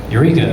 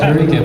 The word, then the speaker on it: Eureka: Eureka, right? It's spelled Eureka. My eyes want me to say Eureka, but I have to tell myself Eureka.